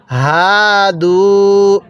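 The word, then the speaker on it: هادوا: এরপরে হাদু, এই হাটা উচ্চারণের সময় আমরা গলার মধ্যে হালকা আওয়াজ করলে এই হাটা সহি শুদ্ধ উচ্চারণ হবে।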